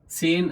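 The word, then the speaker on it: zehn: नयन नॉय और नयन उसके बाद सेन एच आ गया बीच में साइलेंट कर दिया हमने उसको से और न सेन सेन एल्फ ये तो सिंपल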